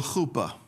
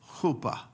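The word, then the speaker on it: חופה: It's spelled chet, pe, or fe, he, chuppah. But it can be read this way, chet.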